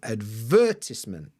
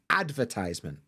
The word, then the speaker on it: advertisement: correct answer is advertisement now British people will often put the stress on the second sound advertisement now you may be more comfortable with the Americanized pronunciation advertisement advertis stresses on ad now actually where I'm